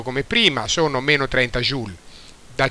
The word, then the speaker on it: joule: è l'unità di misura joule, che non si pronuncia joule come si dice in Italia, ma si pronuncia joule.